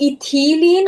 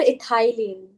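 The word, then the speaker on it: ethylene: which is it's called इथिलीन और इथाईलीन मतलब they are वन एंड the same it's it's just pronunciation difference इथाईलीन एंड इथिलीन they both will have the same spelling so they both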